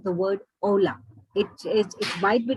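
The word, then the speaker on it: hola: by saying the word ola it is it might be written as h.o.l but it is pronounced as ola italian in italian we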